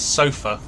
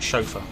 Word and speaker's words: chauffeur: Oh yeah, Jack had to get his sofa to take pictures of, take a video of the F4 Phantom departing.